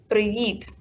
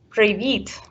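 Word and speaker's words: привіт: we say hi hello we will say previet so it's a very soft sound in the end of the word previet when we want to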